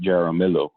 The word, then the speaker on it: Jaramillo: your introduction uh again my name is uh uh jaramillo in spanish in english with and uh in english my last name they pronounce it jeramillo um as betty said